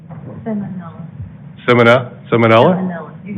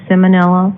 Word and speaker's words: Simonello: speaker our next speaker is semina salmonella i didn't want to mispronounce that if you could please step to the mic and if you could uh please state your name and residential address please oh it's simonello i'm a 1207 20th